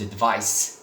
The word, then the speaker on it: advice: Okay, so to advise, and the noun is advice, so it is with C and it is pronounced as S.